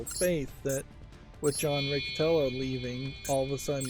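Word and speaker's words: Riccitiello: I understand it, is his last name is pronounced Riccatello, but I'm saying I've heard people pronounce it Riccitelio or Riccatelio, but I think the second I here is just kind of silent, and it's Riccatello.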